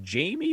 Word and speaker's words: Jamey Chadwell: And I think it's Jamie, but it's spelled Jamey Chadwell, the head coach at